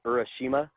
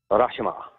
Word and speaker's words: Urashima: So if you were to say it like U.S. style, it would be Urashima, but for a Japanese restaurant, Urashima.